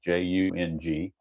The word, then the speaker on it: Young: The two that are not carded are a third baseman by the name of Jace Young. I guess it's pronounced Young. It's Jung, and also backup catcher Thomas Nito.